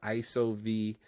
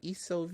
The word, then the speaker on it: ISO: there and of course the pronunciation of iso was a little tricky at first people were like ESO or I IO and and then that's